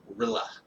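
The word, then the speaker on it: R'lyeh: The thing with Cthulhu is that he is entombed in a sunken city called Rilla, or Rilla. It's spelled easier just not to say, is it?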